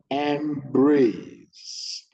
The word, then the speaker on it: embrace: Embrace, EM stressed, brace low pitch.